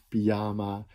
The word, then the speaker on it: pyjama: het gips factuur en de klemtoon kan liggen op de eerste lettergreep panama op de tweede lettergreep pyjama de derde lettergreep chocola op al die lettergrepen